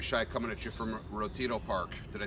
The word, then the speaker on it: Retiro: Hey everybody out there in Kirby land, Larry Shy coming at you from Retiro Park. Did I say it correctly? Yep. Retiro Park in Madrid, Spain.